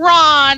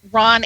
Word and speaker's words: Rahn: If you want to check out Rahn Anthony's website, let me give you the address. Now, it's not spelled traditionally. It is spelled R-A-H-N, R-A-H-N, and it's not spelled like Anthony either. It's A-N-T-H-O-N-I.